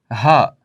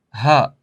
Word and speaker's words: ه: Харфуль ха. Так называется эта буква на арабском языке. Ха. Ха. И произносится х. Очень похоже на буква H на английском языке.